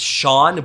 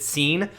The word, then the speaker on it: Sean: hate saying this name i know it's shawn but i always pronounce it scene because it looks like scene sean kane [ __